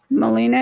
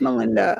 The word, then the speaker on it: Melinda: I keep saying your name wrong. It's just my eyes. I used to do that at the beginning. Oh, I'm so sorry. I learned it's Melinda. It's Melinda.